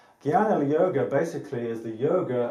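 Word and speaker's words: Jnana: um which is the Gana yoga I know that's spelled a little funny should be with a G but for some reason it's always spelled with a J but it's pronounced Guana Gana yoga basically is the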